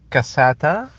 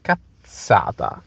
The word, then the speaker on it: cazzata: While cazzata is not cassata, is cazzata.